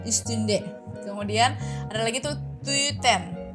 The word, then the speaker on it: tüten: kemudian ada lagi tuh tuten ada tuten ya itu u ti du bacanya tuten tuten kemudian ada n son